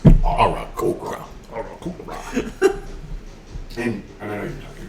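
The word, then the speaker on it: Aarakocra: the Oracocra. The Arakokra. Okra. It's pronounced. Arakokra.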